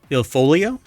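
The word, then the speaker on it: Il Foglio: Il Folio? Is that how it's pronounced?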